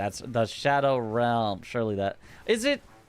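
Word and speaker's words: Scadu: Like originally, you know, you had some m actually it's pronounced shadow and nowadays everyone's just like, "Yeah, yeah, it's good.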